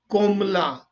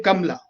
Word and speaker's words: Kamala: it should be pronounced kombula she doesn't say kamla the indian way she says c o